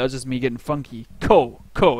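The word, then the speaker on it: こ: just me getting funky co co it's pronounced CO as in Coco I like my hot coco all right now we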